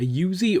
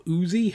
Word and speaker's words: Uzi: We got AL-15, a Yuzi or Uzi, however you want to pronounce it.